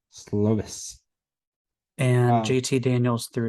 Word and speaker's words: Slovis: That was the rematch of the USC quarterbacks, JT Daniels and Keaton Slovis, or Slavis, however you say his name. Slovis.